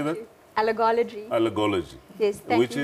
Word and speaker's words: allergology: Naidu has a special interest in allergies and holds a diploma in allergology, if I can say it. Welcome to Health Talk. Morning, Sally. How do you say that? Allergology.